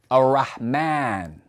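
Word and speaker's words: الرحمن: And that line is a dagger alif, indicating that after the Mim, after that M sound in the name Ar-Rahman, we're going to pronounce an alif. There's an A sound, Ar-Rahman.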